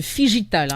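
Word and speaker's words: phygital: Voilà, le Figital. Donc ça s'écrit F-P-H-Y.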